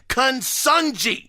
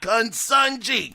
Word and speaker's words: Consunji: struggle with this but I think it is kungji it's spelled c o n s un nji consunji who is PlayStation's group